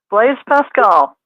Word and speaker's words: Blaise Pascal: Blaise Pascal.